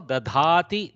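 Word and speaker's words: दधाति: Same way, this guy also dadhati, dadataha, dadhati. Okay, dhakara, we have to know to pronounce. So how much difference one Mahaprana makes, we have to be careful.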